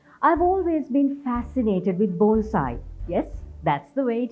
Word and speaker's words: bonsai: me savitri rodrigo i've always been fascinated with bonsai yes that's the way it is pronounced the word means tray planted in japanese